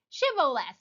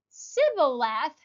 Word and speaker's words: shibboleth: For the first consonant was mispronounced, the SH versus the S. In the Ephraim dialect, the Ephraimites dialect did not contain any sound of an SH. So those who pronounced the word Sibboleth were identified immediately as Ephraimites and killed.